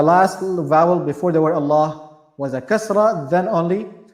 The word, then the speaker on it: Allah: the word the word Allah we have is pronounced in either light matter or having matter most of the times is pronounced in heavy matter but sometimes it is pronounced in a light manner this word specifically over here this this novel gelada will be pronounced in a heavy manner why because there's a